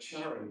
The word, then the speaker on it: Charon: I call it Charon, by the way, not Sharon.